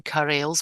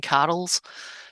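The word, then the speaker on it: Carels: just want to mention, I think I've been pronouncing his name wrong. I call him Carson Carrells, but I think they say Carson Carrolls. So Is Carson it Carson Carrolls, Carols? that's what I heard them pronouncing it like.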